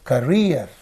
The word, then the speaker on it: career: So EER is the suffix. One E is here, another E is here. That means this suffix is getting split into two and two syllables, and only the first one receives the stress.